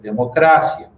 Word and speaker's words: democracia: Um heterotônico é aquela palavra que vai ter uma sílaba tônica diferente. Então, por exemplo, democracia em português, em espanhol vai se ler democracia. Cérebro em português, em espanhol vai ser cerebro. Magia em português vira magia e assim por diante.